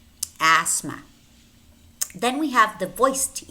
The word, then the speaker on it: asthma: teeth and we have a word which contains that he ate but the T is silent namely asthma asthma then we have the